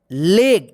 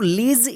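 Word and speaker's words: leg: पे एल ए जी इसको क्या पढ़ेंगे लेग इसको लीज या लेज नहीं पढ़ेंगे लेग पढ़ेंगे जी का ग उच्चारण होगा ठीक है ना लेग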